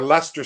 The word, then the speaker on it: Leicester: I always pronounced it as Leicester. Leicester. I thought in my mind it was Leicester because I never connected the two.